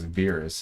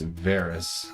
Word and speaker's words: Verus: It's not Alex Verus, it's Varys, according to him, Alex Varys. But you'll only ever think of it as Verus cuz that's what the voice actor calls it.